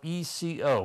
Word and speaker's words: Eco: Then there's another brand, and this is Eco, which is spelled E-C-O, pronounced Eco, out of Western Manufacturing Company, Oskaloosa, Iowa.